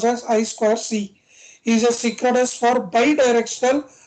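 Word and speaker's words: I²C: The inter-integrated circuit bus I square C pronounced as I square C is a synchronous for bidirectional half duplex two wired serial interface bus.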